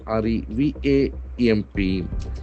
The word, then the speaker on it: revamp: r e v a m p. So this is a very interesting verb. Revamp. Revamp. Accent falls on the second There are two syllables.